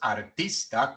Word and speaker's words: artist: artist, porque la primera palabra no viene entre dos vocales al principio de una sílaba no acentuada, pero cuando la modificamos para que no sea arte, sino artista, ahora sí, artist, art, artist, art, artist.